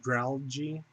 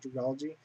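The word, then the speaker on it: Dragalge: was to evolve into, I think it's pronounced Dralgy, because I think it's or Dragalgy. There you go. Because I think it's a combination of algae and dragon, so it's like Dragalgy. I think that's how you pronounce it.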